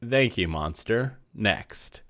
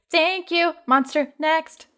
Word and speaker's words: Thank You Monster Next: this podcast we made thankee monster next how'd that do well first of all you're not saying it right because it was thank you monster next so that's how it